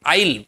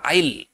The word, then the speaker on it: yl: আর এদের নামটা কিভাবে হবে, দেখো সাফিক্স আছে YL, মানে আইল, বাংলাতে এইভাবে উচ্চারণ করতে পারো আইল।